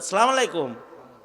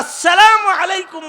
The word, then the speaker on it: আসসালামু আলাইকুম: সালাম আলাইকুম, হ্যাঁ সালাম আলাইকুম, সালাম আলাইকুম মানে আপনি মরে যান। সালাম আলাইকুম, সালাম আলাইক, হ্যাঁ সালাম আলাইক মানে হলো আপনি মরেন। আর আসসালামু আলাইকুম মানে হলো আপনার উপরে শান্তি বর্ষিত হোক। সালামের শুরু হামজা সুস্পষ্ট করে উচ্চারণ করা ওয়াজিব।